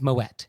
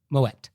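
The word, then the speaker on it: Moët: So you do say the T. It's Moet. He was Dutch. He wasn't French. So the correct pronunciation is Moet.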